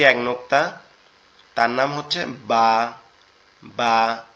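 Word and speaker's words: ب: তো এই নিচে এক নোক্তা, তার নাম হচ্ছে বা। বা, বাটা হচ্ছে আমাদের দুই ঠোঁট থেকে উচ্চারিত হবে, বা, বা।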